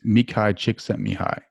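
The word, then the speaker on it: Mihaly Csikszentmihalyi: at university of chicago i'm probably mispronouncing his name a little bit that's cool because nobody can ever it's me kai chick sent me high she sent me high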